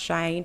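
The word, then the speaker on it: Cheyne: And they and they said um they spelled out his name and said pronounced Shane, which I think is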